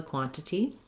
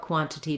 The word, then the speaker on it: quantity: And I would say that this pronunciation with the two true T's is a little less commonly used, but it is correct, so you can certainly use it if it's easier for you.